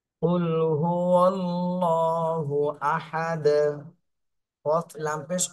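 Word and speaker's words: قُلْ: এখানে কফ বলতে হবে কুল গলার মাঝখান থেকে উচ্চারণ করতে হবে কুল কফ লাম পেশ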